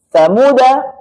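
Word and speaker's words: ثمودا: Nah, ketika tanda-tanda seperti ini, maka cara bacanya adalah dengan tidak melibatkan alif, baik di dalam waqaf maupun ketika wasal. Jadi alif tidak berfungsi sama sekali sebagai mad. Contoh, ada kata samuda, ala inna samuda kafaru.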